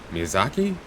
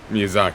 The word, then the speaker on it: Miyazaki: think I said the normal guy was uh Miyazaki or am I confusing him with a different